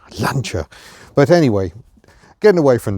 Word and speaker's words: Lancia: 1993, probably in anger because we don't pronounce it correctly. Lancia.